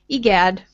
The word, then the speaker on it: Egad: Egad. Egad. Uh-huh, yeah. E and then gad will be your strong one there.